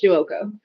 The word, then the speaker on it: Giuoco: Giuoco. That's how you pronounce it, Giuoco.